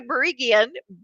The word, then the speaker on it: Barigian: bring marty and i'm going to say her name wrong but she loves me anyway marty barigan on to the show marty how are you